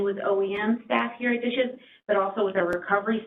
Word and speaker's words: DHSES: commonly referred to as the acronym dhses pronounced dishes this presentation and the